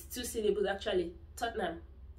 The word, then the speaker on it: Tottenham: one is tottenham for football friends they say tatina it's not a tina it's too silly but actually tottenham tottenham tottenham you don't say tortena it's not so